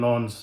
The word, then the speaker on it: Lens: Sevilla will be tough, but today Sevilla and Lens, it's pronounced Lens. I said Lens earlier.